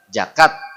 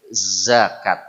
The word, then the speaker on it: zakat: tuh kahartos lah ya, tapi dia salah betul? Salah ya, sampai manapun salah dia. Mestinya zakat. Jadi huruf zai adalah huruf Z. Yang diucapkan tidak pakai desis, bukan za, tapi za. Getar coba za. Lidah atau kalau sangat sulit gigi atas bawah rengkepkeun. Za, zi, zu.